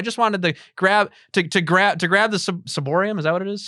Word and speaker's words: ciborium: There's been times where I've seen irreverent reception of the Holy Communion, where I just wanted to grab the ciborium.